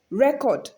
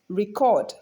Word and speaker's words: record: depending on the context so when it functions as a noun it is stressed on the first syllable usually and when it is functioned as a verb it is stressed on the second syllable usually so we have record